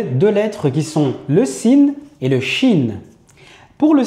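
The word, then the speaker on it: سين: Ce qui est important dans cette lettre là lorsqu'on la prononce, c'est de ne pas créer d'emphase lorsqu'on en a pas besoin. Pas faire de sa sour si si parce que là on se retrouve à prononcer une autre lettre qui est la lettre sodai juste après.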